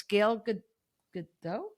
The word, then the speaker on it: Gal Gadot: And it's The Rock and it's Gal Gadot?